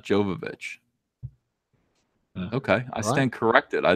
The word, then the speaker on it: Jovovich: I'm never going to stop saying Jovavich though because I can't. It's Well, a in habit. German, the J is like a Y.